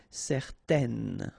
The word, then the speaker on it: certaine: will change the thing, and then you will pronounce it n. Okay, so the masculine form, certain, the feminine form, certaine.